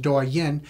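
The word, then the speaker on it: Douyin: my Chinese app that we believe is pronounced durian and was picked up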